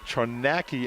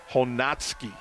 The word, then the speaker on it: Chojnacki: It looks like Chonacki, and it's actually Honatsky.